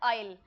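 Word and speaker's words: isle: generally आईल को confuse किया जाता है इस वर्ड से आई एस एल ई इसका प्रोनाउंसिएशन आइजल नहीं होता है एस साइलेंट होता है इसका प्रोनाउंसिएशन होता है आइल एग्जैक्टली सेम प्रोनंसिएशन इसका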